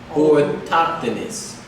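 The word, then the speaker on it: autochthonous: It says, let me show you how to pronounce it. Orthoctonous.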